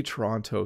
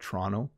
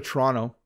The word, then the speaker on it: Toronto: toronto and i like walking along notice i pronounced so when i say toronto slowly it sounds like that but i really usually just call it toronto so let me let me use my normal